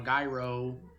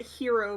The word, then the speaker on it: gyro: that it's like wait he's been pronouncing it hero meat and it's like maybe